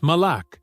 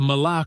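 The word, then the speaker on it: malak: The Hebrew word he uses for angel is mala. It is spelled m a l a k.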